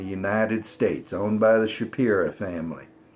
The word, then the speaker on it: Shapira: States, owned by the Shapira family. S-H-A-P-I-R-A. It's not just my hick pronunciation. It really is spelled Shapira.